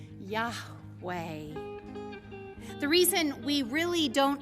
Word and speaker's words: Yahweh: God says and and the pronunciation is a mystery to us but we take our best stab at it God says my name is Yahweh the reason we really